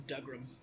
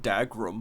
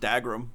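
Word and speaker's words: Dougram: they kind of remind me the guys from dugram who oh it's a risque takahashi mech show they made africa it's pronounced dagrum by the way oh oh dead ass yeah it's pronounced dag room even though it's w it's dag room marks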